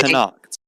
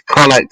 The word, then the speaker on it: Connacht: It's Connacht, I believe, and well, that's my pronunciation. What I go by. We both could be wrong, but so basically, Connacht,